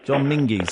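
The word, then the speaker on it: John Menzies: John Mingis. John Mingers. Extensive shop. Yeah. Well, I don't know. John Mingies.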